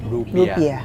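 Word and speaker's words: รูเปียห์: อินโดนีเซีย เรียก ว่า รูเบีย อินโดนีเซีย เรียก รูเปีย ไม่ ใช่ รูปี นะ ฮะ ไม่ ใช่ ค่ะ รูปี เดี๋ย เป็น อินเดีย นะ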